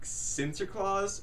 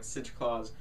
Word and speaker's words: Sinterklaas: First of all, it's not Santa Claus, it's like Sinterklaas, I think that's how you say it, which Santa apparently is based off of him. So yeah, so it's like Sinterklaas.